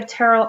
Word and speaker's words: Terell: parents named me Terell never call me everyone's always called called me Terell I know it's spelled kind of funny but it's pronounced like Carol with a t and um as you